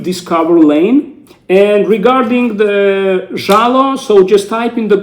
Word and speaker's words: Zhalo: And maybe the pronunciation for non-Russian speaking people can be a little bit difficult, but I don't really think so. Zhala, not a big deal. So Zhalo.